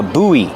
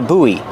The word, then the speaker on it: buoy: Use a long oo like food. Ooh. Boo. Buoy. And then the long e like green beans. And link the vowels.